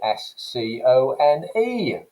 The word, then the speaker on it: scone: ways take this word s-c-o-n-e for example how do you say that word is it scone with that kind of flat vowel sound that you'd associate with the north of england or do you say